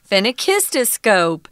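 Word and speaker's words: phenakistiscope: more sophisticated now so it's got a tongue twisting name it's not easy to say in fact i spent a couple of a couple of minutes even trying to find the pronunciation online and i finally found a youtube video that explained it so phenic histoscope yeah it's also very long but don't let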